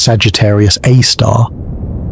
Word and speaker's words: Sagittarius A*: Sagittarius A* pronounced Sagittarius A star.